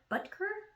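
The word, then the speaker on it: Butker: goal by Harrison Butcher and butter I don't pronounce his last name b-u-t-k-e-r buttker it's a weird last name anyways despite that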